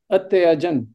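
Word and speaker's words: अत्यजन्: Atyajan. So you see, when do you say atyajan? When there is a halanta.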